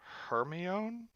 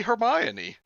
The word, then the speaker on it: Hermione: on her me own I think that's pronounced hermano that's right Hermione was kidnapped when she was born what then she was born she was born that way it's supposed to be Hermione yes she was born